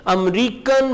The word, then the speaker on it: américaine: E के ऊपर जो accent mark है ये cafe वाला accent है. इसको आपने A pronounce करना है. American.